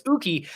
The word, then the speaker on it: Uki: is dutch um because when i asked them how to pronounce their name it's not aki it's not uh i've heard so many different variations i can't even think of them but it's uki uh it actually means